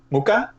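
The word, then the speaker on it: Mucha: Muka, right? Muka, yeah. Hard C. Yeah, silent H, hard C.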